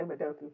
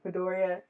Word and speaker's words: Midoriya: uh, the one with Todoroki and I'm gonna mispronounce this boy's name. Midoriya. I was gonna say Madoku. Midoriya and Todoroki season 2.